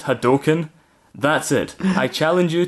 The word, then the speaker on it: Hadouken: have no honor I hate you can it's pronounced Hadouken that's it I challenge you to the most